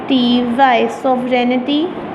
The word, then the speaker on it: sovereignty: Sovereignty. Write these spellings in very accurate manner. SOVEREIGNTY. इसको पढ़ेंगे sovereignty. जी इसमें silent आ जाएगा.